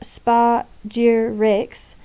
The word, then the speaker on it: spagyrics: Spagyrics, pronounced spa-gyr-rix, is the applied alchemy of isolating the essence of plants and herbs.